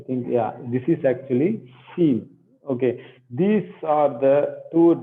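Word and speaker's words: Shin: Okay, but this, when the dot comes on the right side, it is seen. That is shouting, like when you want to silence a small kid, what you do? That is the sound.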